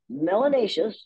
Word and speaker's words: melanous: for very little melanin melanous which rhymes with gracious and spacious and efficacious so it's a good one